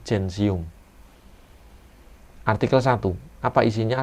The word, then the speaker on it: gentium: gigi lumen Hai sensium tulisannya centium gentium bacanya janji UM Hai artikel satu Apa